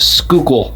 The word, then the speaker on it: Schuylkill: in the Schuylkill River and yes it is pronounced Schuylkill River some of the parks connect to the